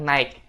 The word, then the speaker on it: night: Dan untuk malam itu teman-teman jangan bilang night, tapi night. Night. Jadi GH-nya itu nggak dibaca ya guys.